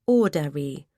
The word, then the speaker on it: Audrey: He pronounced her name Audrey. With a long roll on the R.